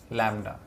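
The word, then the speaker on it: lambda: क्या कहते हैं, क्या प्रोनाउंस करते हैं इसको, लैम्डा, ठीक है।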